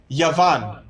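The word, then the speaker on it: יון: of a word and it would be pronounced yavan and yavan means greece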